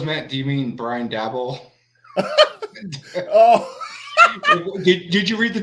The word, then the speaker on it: Daboll: How you pronounce it? Daboll.